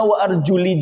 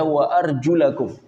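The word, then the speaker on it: وَأَرْجُلَكُمْ: Setelah itu wa arjul harusnya wa arjuli juga karena mengikuti kalimat sebelumnya karena ada huruf wau tadi. Namun ternyata riwayat yang masyhur dibaca wa arjulakum.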